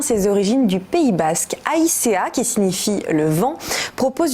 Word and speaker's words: Aïzea: Aïcea, oui, au Pays Basque, on dit vraiment toutes les lettres en fait.